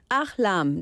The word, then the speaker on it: Ahlam: This is Ahlam. Did I say it right? Yes. Yay! Right. Welcome, Ahlam.